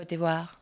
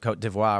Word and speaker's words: Côte d'Ivoire: as Côte d'Ivoire, or how you Côte pronounce d'Ivoire. d'Ivoire? Is that It's French. Most people refer to it. They call it that. Côte d'Ivoire.